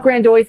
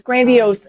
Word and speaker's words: grandiose: It's not grandiose, it's grandiose. Come on.